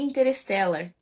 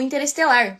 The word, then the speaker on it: Interstellar: Que é o filme Interstellar, né? Ou Interestelar, como é a pronúncia brasileira.